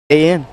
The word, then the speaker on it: Lujan: Weird, but that's how it's pronounced. Lujan.